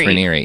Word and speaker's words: Raniere: Yeah, I think it's Raniere, yeah. It is. Yeah, and I know I knew it when we did it last time. But today we're talking about the end of Keith Raniere.